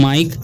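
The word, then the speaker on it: mike: से क्या होता है क और ई का उच्चारण नहीं होगा ठीक तो इसे पढ़ेंगे हम माइक ठीक और यहां पर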